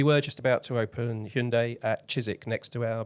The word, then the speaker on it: Hyundai: Hyundai Hyundai Hyundai like hund got say Hyundai Hyundai like Sunday so um yeah so